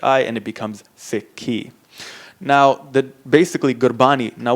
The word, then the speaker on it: Sikhi: s i k h i and it becomes sik key now the basically gbani now what gbani is